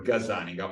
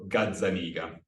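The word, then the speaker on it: Gazzaniga: in the brain by Dr gazaniga or gadzanigan as we should pronounce his name and for that I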